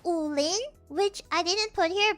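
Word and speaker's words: Wulin: What's the pronunciation? It's Ulin. Ulin.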